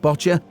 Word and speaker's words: boccia: give you an introduction to the game of botcher spell b o c c i a but pronounced botcher it's an easy tolearn game for anyone and